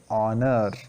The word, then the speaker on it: honor: is ha but here the pronunciation of h is silent and we say honor then a european here